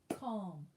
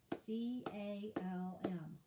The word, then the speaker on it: calm: p-s-a-l-m yolk halfway h-a-l-f-w-a-y halfway doubt d-o-u-b-t doubt calm c-a-l-m calm thumb print t-h-u-m-b p-r-i-n-t thumb print december